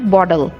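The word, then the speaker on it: bottle: और इसकी प्रोनाउंसिएशन है बॉटल। इसमें डी हम बोलेंगे, डबल टी आ रहा है बिटवीन टू वाउल्स, तो इसको डी का साउंड देते हैं, बॉटल ओपनर।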